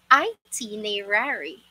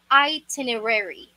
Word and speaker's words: itinerary: usually read this word or pronounce this as i t me rari i t nei rari i t nei rari or i teneri something like that which is which are both wrong itinerary itinerary again say it